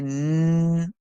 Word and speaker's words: know: one in this one the K and N join together to make the sound n because the K is silent and the end is making the sound so n and the o w says o so we hear no no no all right so I